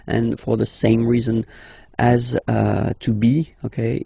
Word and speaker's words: as: Second one, tu as, okay. As usual in French, final s is not pronounced.